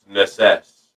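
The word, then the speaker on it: Necesse: I'm sending you a screenshot of it because it's pronounced Necess, like necessity.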